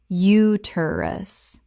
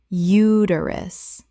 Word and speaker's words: uterus: Uterus. Correct pronunciation. Uterus. The stress is on the first syllable, and the middle syllable is reduced.